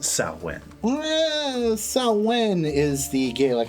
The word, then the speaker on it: Samhain: Do you seriously believe this is Samhain? It's pronounced Samhain.